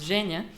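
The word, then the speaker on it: Женя: to pronounce ounce but in Russian my name is Genia because like je it's difficult for foreigners so that's why I'm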